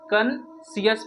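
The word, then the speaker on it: conscious: यहाँ पे सी साइलेंट है कंसियस में, तो इसे हम लोग कंसियस पढ़ेंगे, कंसियस।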